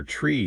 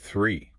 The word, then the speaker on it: three: is the the sound often you'll hear tree instead of three to nail that the it's all about gently placing your tongue between your teeth feels a bit weird